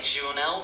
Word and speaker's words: journal: In French, Jael is pronounced more like Jonel with a soft J sound at the beginning.